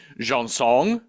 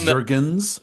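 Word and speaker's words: Jergens: She's like, she pronounces it jeansong jeans. But Jurgens, it's a Jurgens.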